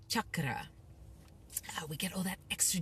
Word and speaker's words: chakra: pronunciation for you guys it's not chakra it's Chuck Cara we get all that